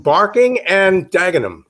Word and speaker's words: Barking and Dagenham: have found for us peter chan uh from barking and dagenham did i pronounce that correctly peter you did but oh